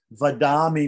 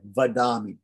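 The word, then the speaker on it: वदामि: what happens is that when you pronounce a v in sanskrit in when it's a conjunct consonant when it comes with some other letter it can be pronounced more like a w when it when it when it's by itself for instance vadami means i say i say vadami vadami we we we wouldn't say what army we say whereas if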